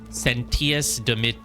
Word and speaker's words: Sentius: is just Sous sentius none of them are pronounced with a sh they're all hard T sentius Deus whatever never demissus